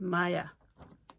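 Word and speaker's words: Maia: it was called it's called Maya Maya I think that's how you pronounce it m a i a um it's a mai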